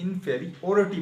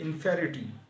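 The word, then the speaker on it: inferiority: इसे याद करने के लिए इनफेरियोरिटी पढ़ेंगे लेकिन इसकी प्रोनाउंसिएशन ये नहीं है, इनफेरिटी। आपने स्पीड में पढ़ना है, इनफेरिटी।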